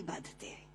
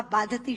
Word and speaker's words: बाधते: मुंह से बोला हुआ बाधती शब्द कष्ट दे रहा है, क्योंकि बाधती शब्द का अशुद्ध उच्चारण आपने किया है। ये शब्द बाधते होना चाहिए।